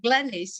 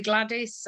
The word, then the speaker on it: Glennis: wrong i i i think that glennis is very straightforward it's amazing how many people call me gladys or glinis or they don't get